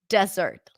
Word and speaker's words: desert: and rocks or rocks desert let's go to the desert okay we got lost in the desert desert remember the secret here is the stress the stress here is on the first syllable t t Tata this